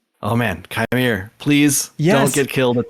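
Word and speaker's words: Qimir: So they had that weird line where the stranger guy, Chimere, that's how you pronounce his name.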